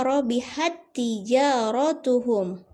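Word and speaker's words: ربحت تجارتهم: Jadi membacanya digabung, disambung ya. Jadi tak sukun itu dianggap tidak ada, jadi dilanjut membacanya, membaca tak yang ditasydidkan. Robihat tijaratuhum.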